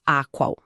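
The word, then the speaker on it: AQAL: Esse mapa existe e a ética integral estrutura ele no formato do modelo Aqual. Aqual. Isso se pronuncia a qual é uma sigla para todos os quadrantes, todos os níveis.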